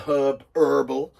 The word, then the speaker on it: herb: It's not herbal. Been watching too many American Christmas films. There is a fucking H in herb, so please pronounce it in the future.